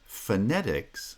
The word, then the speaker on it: phonetics: wants to study now the word phonetics stresses on the second syllable and as a result the first syllable the f of phonetics becomes part of the preceding foot everybody wants to study